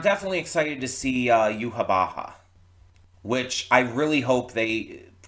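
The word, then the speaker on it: Yhwach: everything and I'm definitely excited to see uh yuab Baha which I really hope they continue that pronunciation because it's hilarious to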